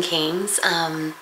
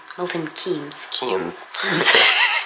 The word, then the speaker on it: Keynes: We're here in Milton Keynes. Keynes. Always say it wrong.